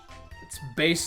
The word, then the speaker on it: Bass: well bass and treble not bass in trouble